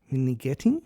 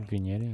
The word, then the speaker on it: vignetting: what it can do is it can create minetting. Have I pronounced it right? Vignetting.